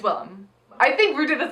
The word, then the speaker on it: Willam: Max Muchnick is like, oh, William. Yeah. It's Willam.